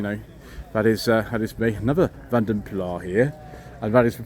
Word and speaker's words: Vanden Plas: Another Vanden Plas here, and that is the pronunciation we're using today.